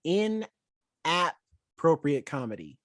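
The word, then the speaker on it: InAPPropriate Comedy: movie i've ever seen in appropriate comedy i say it like that because literally it's spelled that way like app because the concept is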